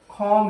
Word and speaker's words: comb: তো চুল আঁচড়ানো হচ্ছে কম হিয়ার, COMB, কম। এটার উচ্চারণ কিন্তু কম না, বি উচ্চারণ হবে না।